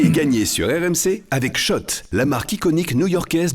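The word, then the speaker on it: Schott: Jouer et gagner sur RMC avec Shot, la marque iconique new yorkaaise depuis 1913. Oui, Shot et pas Scott. Ça fait des années qu'on prononce mal la marque.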